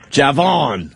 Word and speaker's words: Javon: to this guy, do you pronounce the J or is it silent? No, I pronounce it. Javon.